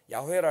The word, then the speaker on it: 야훼: 안 드려도 잘 알겠죠 자음만 읽으면 야훼라 그랬어요 야훼 근데 우리는 이제 이스라엘 사람들이 발음을 하지 않았기 때문에 사실은 어떻게 읽었는지 모르고 이스라엘 사람들은 여기에 주님이라고 하는 주님 아도나이라 그래요 주님을 거기 모음을 뜯어다가 여기다 붙였어요 야훼라는 자음에다가 그리고 아도나이라고 읽었어요 그들은 근데 그걸 잘 몰라